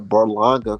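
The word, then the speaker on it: Berlanga: around and pull out a burlanger card yes I said it right Edgar balanga Puerto Rican Dracula yeah I'm saying he gonna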